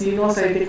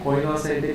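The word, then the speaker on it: coenocytic: Cenocytic, coinocytic or cenocytic. Some people will spell it as coinocytic. Okay. This is called cenocytic actually.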